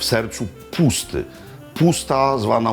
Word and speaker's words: puszta: Pusta zwana u nas niesłusznie Puszczą, bo SZ po węgiersku się jak S wymawia. Więc nie jest Fidesz, tylko Fides. Nie jest puszta, tylko pusta.